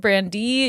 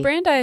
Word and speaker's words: Brandeis: acting in the same ways so researchers at brandy university or brandeis randy's randy's thank you i